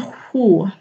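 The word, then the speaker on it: sju: Ini tulisannya seju tapi dibacanya hu.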